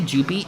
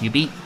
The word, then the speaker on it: jubeat: I'd say Jubeat, but it's pronounced Ubeat.